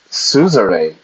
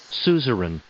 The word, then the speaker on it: Suzerain: I would say Suzerain, but the pronunciation is Suzerain.